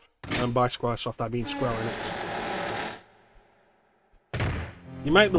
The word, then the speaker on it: Enix: Because it's Square Enix is the name, it's pronounced Enix.